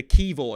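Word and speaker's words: Kiwior: So Kivor, is that right?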